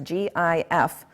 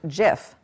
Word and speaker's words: GIF: is that steve wilheit the person credited with creating what is referred to in writing with the letters g-i-f can report that it is correctly pronounced jif while the dictionary provides both jif and gif as established pronunciations at its entry coining